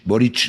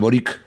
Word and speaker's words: Boric: Y Boric, que todo eso se pronuncia Boric, no Boric, porque Ujú. es un apellido croata. La C es CH.